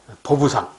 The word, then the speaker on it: 보부상: 15세기 후반 전라도에서 등장한 보부상, 보상과 부상. 원래는 부보상인데 발음하기 힘들어서 보부상이라고 하는 거예요.